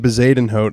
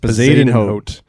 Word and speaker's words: Bezuidenhout: Yeah, so this guy Christian Bezadenhout, that's how it's pronounced. Bezadenhout.